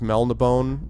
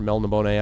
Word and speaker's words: Melniboné: You could argue that Elric of Melniboné, or Melniboné, I guess it's pronounced, by Michael Moorcock, is sort of between dark and high fantasy.